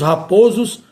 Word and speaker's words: Raposos: Os souzas e os raposos, vogal fechada é por fia. Aqui nesse caso, em relação a esses nomes próprios de família, nesses quatro casos mencionados, o não muda o timbre, ou seja, não sai do timbre fechado para o som aberto, permanece no mesmo timbre, o timbre fechado.